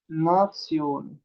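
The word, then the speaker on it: Nation: इसके बाद इसको क्या प्रोनाउंस करेंगे? नात्सियोन।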